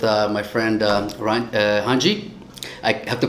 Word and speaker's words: Randy: right now with uh my friend uh uh hanji i have to pronounce it correctly because in brazil you can't pronounce randy it's his name is randy r-a-n-d-y right but in brazil it's pronounced hunch so it's very difficult for me but but